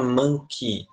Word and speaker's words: monkey: Toda vez que você vê um a e um y juntos, ele tem som de i, tá bom? Por isso que a gente fala monkey.